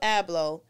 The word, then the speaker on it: Abloh: an untimely death that virgil abdul abdo um hablo yeah virgil ablo i want to make sure i say his name right virgil abloh was helping and was a